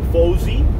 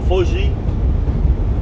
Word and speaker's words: Fauci: So right now, Mr. Fauci, or another Italian, Fauci, that is how it's pronounced, no Fauci, the doctor that is telling Trump what to do.